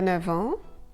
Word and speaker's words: neuf ans: But there are a couple of cases when the F of 9 is pronounced V, a V. Il a 9 ans.